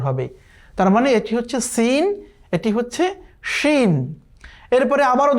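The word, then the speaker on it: س: যেই হরফটিকে কোনো নুক্তা নেই এটি হচ্ছে সিন। সিন, এই সিনের উচ্চারণ খুবই পাতলা।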